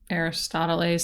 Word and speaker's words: Aristoteles: Aristoteles sounds like Aristotle's, and he's a philosopher.